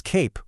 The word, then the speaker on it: cape: When you pop an E on the end of a word, it can completely transform the vowel sound. So cap, with that short A sound, becomes cape with a long A sound. That little silent E actually reaches back over the consonant and makes the vowel say its name.